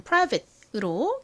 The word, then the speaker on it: private: 이걸 너무 프라이버 이렇게 어 소리를 내기보다는 좀 힘빠진 소리가 납니다. prv트 prv트 이렇게요. 얼핏 들으면 사실 거의 새에 가깝게 들리기도 해요. 그래서이 끝부분을 그냥 private이라고 기억을 해 두셔도 좋을 것 같습니다.